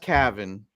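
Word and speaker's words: Cavan: 14 years old Cavin Sullivan and it is pronounced Cavin uh and reason I know that is Bridget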